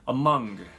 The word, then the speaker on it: among: そして among ですね。ここも、最初の A の部分は、曖昧母音になっていて among、短く曖昧に、発音